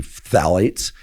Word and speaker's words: phthalates: And she refers to phthalates, which is spelled P. So it's both a plosive and a th. So it's combining the two.